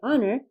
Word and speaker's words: honor: letter of the word honor for example is a consonant but it's unpronounced so h is a consonant and in this word it's silent in spite of its spelling the word honor begins with a vowel